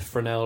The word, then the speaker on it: Fresnel: It's pronounced Fresnel.